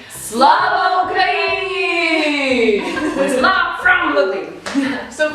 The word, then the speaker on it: Слава Україні: Slava Ukraini!